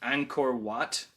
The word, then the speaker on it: Angkor Wat: I think it's pronounced Angkor Wat in Cambodia, which is like one of the most famous religious buildings in the world.